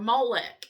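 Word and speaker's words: Moloch: So, Molo, M O L O CH or Molech, M O I always say Molech, M O L E C, which I know is probably the southern translation, I mean pronunciation, originated with the Phoenicians.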